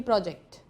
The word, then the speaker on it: project: Pro goes up where we stress the syllable o, and then ject goes down.